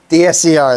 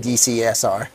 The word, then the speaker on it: DSCR: did I say wrong yeah what kind of loan is it dscr dscr there it is did I say it wrong yeah you said dcsr dcsr dcsr DCR DCR